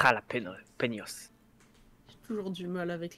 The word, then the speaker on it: jalapeños: Oui, c'est un J, pas un R. Ouais, c'est jalapeños.